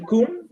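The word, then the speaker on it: Kunth: La palabra K-U-N-T-H, Kun, ¿se pronuncia así, Lisette? Sí, es Guadua angustifolia Kun.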